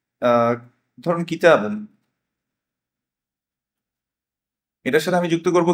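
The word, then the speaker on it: كتابي: এখন এদিকে যুক্ত করবো হচ্ছে ইয়া, ইয়া সাকিন, কিতাবুই হওয়ার কথা ছিল, কিন্তু এটাকে উচ্চারণের সুবিধার জন্য আমরা কি দিয়েছি, একটা কম্পেনসেটরি কাসরা দিয়েছি, কিতাবি।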